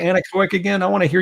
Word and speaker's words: anechoic: itself exactly so i i may have misspelled it or mispronounced it i maybe have said uh any project or something like this but it's definitely anechoic chamber and yeah it comes from latin uh without echo so we are able